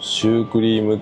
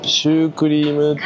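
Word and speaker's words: シュークリーム: 弁こっちではシュークリームっていう発音なんすかパですねあシュークリームじゃなくてシュークリーム勉強になります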